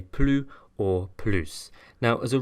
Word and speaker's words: plus: or a silent H, the S is liaised, so we're not going to pronounce it plus, but instead plus. So for example, happier is plus heureux. More interesting is plus intéressant. So in actual fact, the S sounds more like a Z than an S.